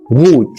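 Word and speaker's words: rot: الحرف 18 معانا حرف الار. الحرف ده ليه قوانين في نطقه برضه هننزل بيها فيديو نقدر نبص عليه، بس بيتنطق غا zum Beispiel غاد يعني دراجة. oder غوت يعني أحمر.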